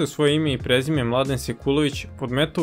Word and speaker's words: Mladen Sekulović: My name is, can you pronounce it? No, Mladen Sekulović. Mladen Sekulović.